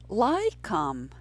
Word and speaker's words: laikam: That word is laikam. Laikam. It's a two-syllable word and there is a diphthong in the first syllable. That diphthong is I, laikam, laikam.